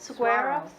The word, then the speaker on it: saguaro: Saguaro? Saguaro. Saguaro? I don't think you pronounce the G.